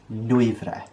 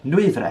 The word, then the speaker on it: Nwyfre: said it is pronounced some people might stumble a bit on the w and the y following each other it's easier to cut